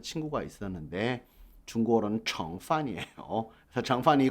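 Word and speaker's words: 盛: 翻炒 뒤집고 볶고 加料 조미료도 넣고 정 발음 조심하십시오. 그렇죠? 정으로 읽어야 돼요. 성이 아니라. 물론 흥성하다 할 때는 성이지만요. 밥이나 이런 걸 담다 할 때는 정 菜, 요리를 담다라고 할 때 정 菜, 정판 한 뭐죠?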